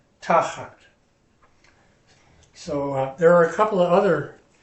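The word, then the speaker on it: תחת: Accents on the first syllable. Tachat.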